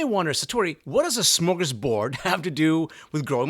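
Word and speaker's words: smörgåsbord: to fulfillment now the idea of smokers board actually originates in Sweden pronounced smokers booed in Swedish okay and in case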